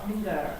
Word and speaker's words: finger: Finger. Not It's not a gu. Finger.